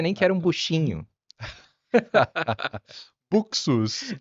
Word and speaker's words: Buxus: pensei e falei, puxa vida, eu chamei de buchos a vida inteira. É, que é do latim, né? Acho que é buxus mesmo.